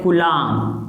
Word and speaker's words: coulomb: इसका मात्रक होता है कूलाम। ठीक है ना, इंग्लिश मीडियम वाले भी कूलाम ही समझे, क्योंकि COULOMB ये इसका स्पेलिंग है।